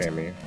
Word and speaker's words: EMMI: It is an acronym, but it's also pronounced. Amy.